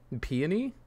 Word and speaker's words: peony: Peony? Peony. It's peony apparently, not peony.